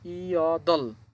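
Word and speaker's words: 여덟: দুইটা বর্ণ নিচে আছে, দুইটা বর্ণ থাকলেও এখানে আমাদের এই বিউপটা বাদ যাবে, শুধু রিউল উচ্চারণ করতে হবে।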